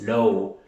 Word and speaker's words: low: La W, esta W se pronuncia como una U, como una vocal, pero no la pronunciamos, simplemente decimos low, bajo o debajo.